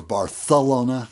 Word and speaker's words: Barcelona: called Vancouver to Barcelona or barthelona if from there they pronounce it Barcelona like they have a lisp in Catalonia anyway that will take